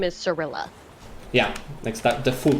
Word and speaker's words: Cirilla: no idea the pronunciation for siri's name is cirilla yeah next the full pronunciation yeah time is coming up by the